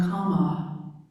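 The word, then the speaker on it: kamma: So, we turn now to the fifth or last remembrance, pronounced karma in Sanskrit, from the Hindu teachings, and kama from the Buddhist or Pali language.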